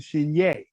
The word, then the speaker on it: Chenier: the name of clifton cheniere or clifford cheney if you want to pronounce it in the creole way that was from louisiana